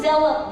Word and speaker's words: zealot: Hindi zealous, i-pronounce natin maayos. Zay. Para hindi baka mamaya seloso.